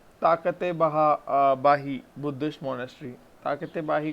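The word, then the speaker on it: Takht-i-Bahi: ताकते बाही commonly mispronounce as तख्ते बाई।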